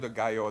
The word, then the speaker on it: gallo: Gao, the L is silent.